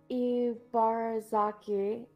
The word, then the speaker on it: Ibarazaki: I'm Ibarazaki, Emi's mother.